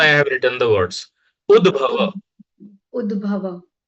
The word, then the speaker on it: उद्भव: Udbhava.